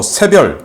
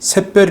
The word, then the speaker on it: 새별: 저 는 여기 에 " 세별 " 이라 고 썼 지만 , 북한 방송 에서 는 " 새별 " 이라 고 발음 합니다 .